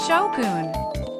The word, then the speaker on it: Shogun: on the pronunciation of Shoon pay attention to the Goon part it's not gun like a weapon it's goon stick around till the